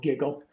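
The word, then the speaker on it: GGQL: it so it's called Giggle and it's U Uhn G gql we just pronounce it giggle that's pretty funny but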